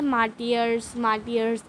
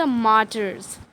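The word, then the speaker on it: martyrs: तो आप मार्टर्स को आप ऐसे नहीं पढ़ेंगे, मार्टियर्स ऐसे नहीं, उसका सही प्रोनाउंसिएशन है द मार्टर्स.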